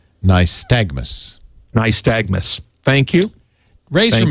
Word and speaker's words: nystagmus: who is in the chat room says it's pronounced nystagmus nystagmus thank you ray's from missouri he doesn't